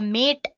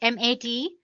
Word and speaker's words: MATE: boots you into the mate desktop environment let me pronounce it M80 you can call it whatever you want mate or mate desktop environment so as you can